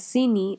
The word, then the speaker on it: Sini: Chini, which means sugar, is pronounced as Sini in Sylheti because the ch sound becomes a s sound.